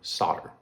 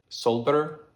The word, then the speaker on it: solder: I pronounced the word solder, okay? People thought, dude, you can't be teaching about soldering if you don't pronounce it soldering. Solder, not solder, right? Because there is an L, right?